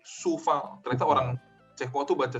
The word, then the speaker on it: Coufal: Terus Coufal itu bukan dibaca Coufal atau Kufal, tapi Soufal.